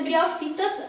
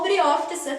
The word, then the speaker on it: briófitas: E o último grupo é o grupo das briofitas ou briófitas, como vocês quiserem pronunciar, que a gente tem como maior exemplo aí os musgos.